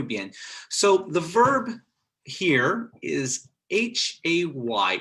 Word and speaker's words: hay: Okay, so this is actually, these three letters, H-A-Y, are pronounced I. So everybody repeat after me. I, like I, right? I, H-A-Y, I.